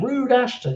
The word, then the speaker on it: Rood Ashton: That's spelled R-O-D, but I love the idea of it just like, Rood Ashton, you know that rude guy.